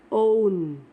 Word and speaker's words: own: longer than letter s next own oh n W is omitted because this is not pronounced so um o n